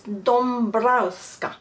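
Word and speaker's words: Dąbrowska: they pronounce each ends and D browa this is how it's written but there's a little accent uh on the a so it's Doma so fa bear for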